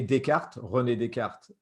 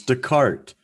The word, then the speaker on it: Descartes: philosopher called uh rene descartes okay cartesian well your cartesian plan comes from him you know the cartesian xy dennis you're saying his name wrong it's descartes i'm teasing you i'm